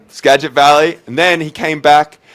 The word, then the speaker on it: Skagit Valley: he went over to college at, I can't pronounce this college, so Benny, can you hit me? Skagit Valley Newman? Skagit Valley. Skagit Valley.